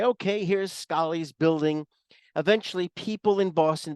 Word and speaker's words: Scollay: um Mina don't fret I had trouble figuring out with my latent New York Queen's accent how to pronounce it it is the Scottish Scali and there was at